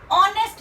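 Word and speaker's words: honest: नेक्स्ट ऐसे ही देखें, ऑनेस्ट मैन। ऑनेस्ट मैन भी हमारा क्या कर रहा है? एच को साइलेंट करके ओ से दे रहा है, तो इसलिए हमारा ये वोवल साउंड हो गया और इसके लिए हम क्या लगा देंगे?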